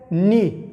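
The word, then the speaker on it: knee: لکه نی، دا به کینی نه وایه، ورته ګوره کینی به نه وایه ځکه چې دغه کې نه تلفظ کیږي، دا سایلنټ ده.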